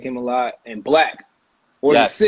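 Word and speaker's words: 6LACK: The 6 Lack. Is it Lack? No, or six it's Lack Black. Black. It's spelled with a 6, but it's Black. Oh, but the 6 supposed to be a B.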